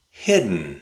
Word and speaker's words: hidden: nn nn Let's give it a try. hit nn hid nn hid nn hidden hidden We replaced the letter D and the letter E with a glottal stop. hidden It sounds more natural that way.